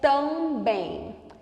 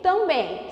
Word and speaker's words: também: consonantal com AM é também. Também. Veja que quando você pronuncia esse ele sai com esse som aqui, do A com tio. Ele sai com o mesmo som do A em mãe.